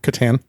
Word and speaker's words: Catan: Andy, how do you pronounce the word in that game? Catan.